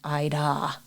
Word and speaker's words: Idah: It would be Idah rather than Ida. Or the H is silent, which is probably why we dropped it.